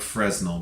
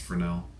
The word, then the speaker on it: Fresnel: Looks like Fresnel, but it's pronounced Fresnel. Anyways, it's French. It's French.